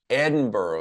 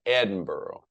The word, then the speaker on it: Edinburgh: Edinburgh is how you say that. Edinburgh.